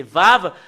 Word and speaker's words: Vav: Voilà le fait de le prononcer, c'est Vav, c'est V.